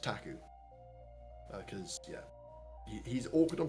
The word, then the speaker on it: PTAC: the same time uh it's spelled PTAC and pronounced taku because yeah he's awkward